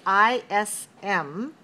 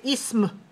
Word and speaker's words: ism: word that ends with i s m we only keep those together even though we pronounce that as two syllables in english we don't say ism we say ism so